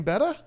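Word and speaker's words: betta: at the pet store how do you pronounce the name of that fish well the better you say better okay see what I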